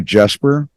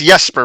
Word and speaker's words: Jesper: so without further Ado Jasper thank you so much for coming on today's show you're welcome it's Jesper by the way I'm Swedish so the J's pronounced like a y that is so cool